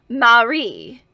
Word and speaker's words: Mare: to me as mare which coincidentally is the Estonian spelling of my name m-a-r-e although it is pronounced with the stress on the last e Marie while I addressed her